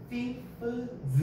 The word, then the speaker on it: thieves: 여기 F에서 F라고 발음이 나버리니까 F랑 S를 붙이는 게 발음이 어려워요. 그래서 이거를 부드럽게 발음하려고 F를 V로 바꾼 거예요.